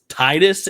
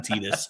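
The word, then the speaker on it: Tidus: time is of course say it correctly Final Fantasy 10 Titus and Yuna I'm a Titus truther I will not call him tetus um one of the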